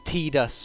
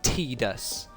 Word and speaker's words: Tidus: Tidus is correct, because T-I-D, like tidy, or tide, like in the ocean, it's tide. So it can't be Tidus, because surely Tidus is how someone who is not a native speaker would imagine it's spelt. But if you use English words as a baseline, the name should be Tidus.